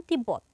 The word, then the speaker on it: তিব্বত: তার উচ্চারণ বজায় থাকে যেমন তিব্বত এখানে ব ফলাটা মাঝে আছে মাঝে থাকলে ব এর উচ্চারণ বজায় থাকবে তাহলে এর উচ্চারণ হবে